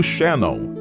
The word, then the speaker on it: Shannon: aguas tranquilas, todo ello enmarcado por el río Shannon y el mar de Irlanda. (Pronunciación Shénon) Pero profundiza un poco más y descubrirás una región con más de 5 mil años de historia.